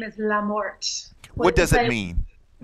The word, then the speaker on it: Lamorte: How's it pronounced? My maiden name is Lamorte.